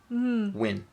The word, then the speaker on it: Nguyen: Yeah, she So was that's pronounced where as the Win.